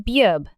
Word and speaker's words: 비읍: 비읍, The name of this consonant is bieup. Bieup is the same B sound you make when you pronounce book.